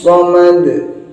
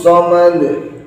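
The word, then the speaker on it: صَمَد: Allah, bukan, tapi Allahus samad. Dalnya harus ada qalqalahnya, sod ini tidak boleh diganti sin. Allahus samad tidak boleh diganti shin tebal. Allahus samad tapi harus dibaca sod.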